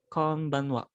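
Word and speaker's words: こんばんは: Bener kayak konbanwa. Cuman ini agak diperhalus sedikit. Konbanwa.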